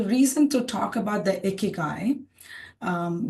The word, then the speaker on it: Ikigai: But the reason to talk about the icky guy. Um we can also say iicky. So we have to learn to pronounce it's a Japanese concept. It's called icky guy, you know, which means